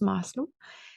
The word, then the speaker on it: Maslow: de Maslow en fait qui se prononce Maslow avec le S c'est une pyramide avec